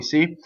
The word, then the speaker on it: se: See vocal cords. Manina. Wrong. Manina. And again, you practice. Aia. Manina. Okay, going on. S-E, se. Okay, so it's a closed E.